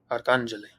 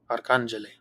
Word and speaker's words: arcangele: For example, let's look at the word arcangele. Notice the acute accent mark over the second A, which tells us that this is the syllable that we need to stress. And so we say arcangele, arcangele.